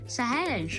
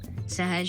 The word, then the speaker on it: Sahaj: Sometimes people say my name wrong, like Sahaj or Sahaj. People usually use that name and just laugh about it. That kind of makes me feel uncomfortable, so don't do that. I always make sure I learn how to pronounce everyone's names. Sahaj is my name, and you can wear it out.